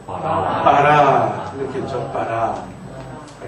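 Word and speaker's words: ברא: 알렙이 낱말 맨 끝에 오면 묵음이 됩니다. 그래서 어떻게 읽어요? 바라.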